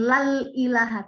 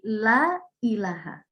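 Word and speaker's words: لا إله: Tidak pakai alif lam, bukan lal ilaha, tidak, tapi la ilaha. Bacanya wajib a, ya, la ilaha.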